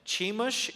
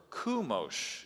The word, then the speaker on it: Chemosh: Chemosh is one pronunciation, or Kumosh is another one from Google.